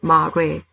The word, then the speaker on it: mare: area we call murray please notice the pronunciation mari mare is a singular price the product form